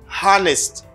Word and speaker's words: honest: the honest because in this word the itch is silent honest the honest i'm honest honest people in haiti